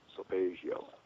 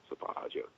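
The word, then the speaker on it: solfeggio: g g i o saio saio depends on what part of the country you're from or which country you're from yeah so there the guy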